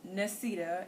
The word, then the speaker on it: Nesita: unique thing about that so my name is nesita and that this is nanye my name is spelled n-e-s-i-t-a mine is spelled n-o-n-y-e-a now um